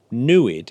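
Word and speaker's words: NEID: the Tohono O'odham nation newid is a pronunciation that evokes a word that roughly translates as to see in the Tohono O'odham language oh well that's perfect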